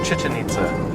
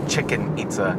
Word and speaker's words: Chichen Itza: It's Chichen Itza, not Chicken Itza. But it looks like Chichen Itza. No, it's not spelled like chicken. There's no K.